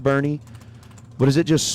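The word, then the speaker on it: Boerne: Did we ever determine I know it's pronounced Bernie, but is it just spelled wrong on the screen or is it actually I don't know if we figured that out.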